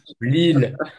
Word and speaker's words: VLEEL: Vlel, je ne sais pas comment on prononce. Lille. Lille.